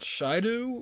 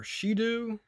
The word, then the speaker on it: Shidu: so there it is i believe you pronounce that shaidu or shidu something like that original voice amplifier so